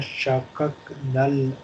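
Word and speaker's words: شققنا: Summa shakaknal arda shakka. Summa shakaknal arda shakka. Look, this is sukoon on kaf. So don't pronounce fatah here.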